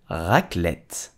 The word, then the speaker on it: Raclette: potatoes and it's delicious so how do you pronounce it correctly in French you will say Raclette aha or fromage she's eichlet